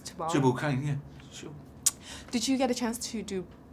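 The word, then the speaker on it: Tubal-cain: that how I should pronounce Tubal? Tubal Cain, yeah, sure.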